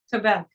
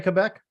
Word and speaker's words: Quebec: from core Smith Annette how do you pronounce Quebec Quebec you say Quebec well well I do but I know that Americans say Quebec right but Quebec is is the proper way but you know you